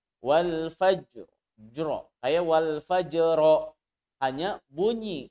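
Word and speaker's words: والفجر: fight Bagaimana cara membacanya roknya dibaca seolah-olah ada bunyi fat hadisin hanya sedikit saja bunyi patahnya walfajri Jero awal Pajero hanya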